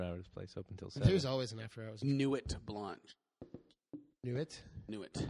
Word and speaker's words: Nuit: Nuit. I believe it's pronounced Nuit in French.